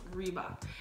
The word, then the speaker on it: Reebok: Aqui nos Estados Unidos, R tem som de R. Reebok. Então, elas erram meu nome. Meu nome é. Reebok.